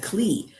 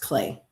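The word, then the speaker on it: Klee: I always said Cle, but Cle is actually pronounced Clay.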